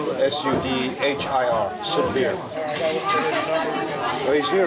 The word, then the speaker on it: Sudhir: How do you spell that? S-U-D-H-I-R.